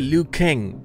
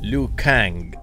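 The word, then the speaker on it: Liu Kang: lukang no se dice luk k no no se dice l k según yo he escuchado se dice l kang así kang kang k l así mira luk kang pero yo le digo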